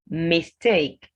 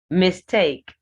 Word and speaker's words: mistake: Mistake. Mistake. Whether this word is a noun or a verb, the pronunciation is mistake.